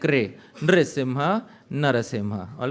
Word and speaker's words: Narasimha: Narasimha, Narasimha, all right? So that is, these are two correct pronunciations.